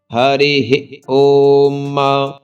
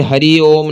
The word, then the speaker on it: हरिः ओम: हरिः ओम हरिः ओम। सबसे पहले इसी का उच्चारण आना चाहिए। ये हरि ओम नहीं है, हरि ओम नहीं है, यह है हरिः ओम हरिः ओम।